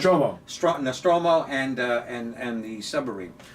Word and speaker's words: Nostromo: tube yeah basically in space the Nostradamus and pronounced Roma strata Nostromo and and and the submarine yeah yes somebody